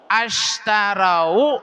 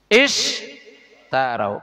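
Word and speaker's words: اشتروا: Ishtarau, ashtarau atau ushtarau? Ishtarau. Kenapa? Tengok karena huruf ketiganya harkat fathah. Ta ini ta. Maka ketika huruf ketiga fathah, hamzah wasol dibaca kasroh.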